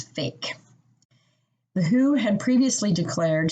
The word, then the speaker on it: PHEIC: of international concern or the acronym pheic which is pronounced as fake the who had previously